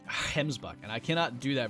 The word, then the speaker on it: gemsbok: like I've said a gemsbok I've been told to pronounce a gemsbok and also pronounce it like hens buck and I cannot do